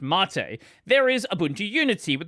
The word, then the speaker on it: MATE: I know it doesn't have a little accent, but yes, technically it's pronounced Mate.